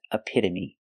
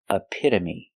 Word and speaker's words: epitome: word is epitome epitome the first syllable is uh like cup and up a p use the I sound like this is a a a the t is between vowels so it's pronounced with with a d a fast d a a again we have the short uh sound like cup and up AA a me like me using the long e sound aamy epitome when